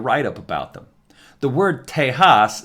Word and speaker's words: Tejas: The word Tejas, spelled with the J pronounced H, is an old Native